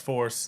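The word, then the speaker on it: FORC3: Pronounced Force and I still mess it up sometimes. Force with a three. Force. The blow. The three is silent.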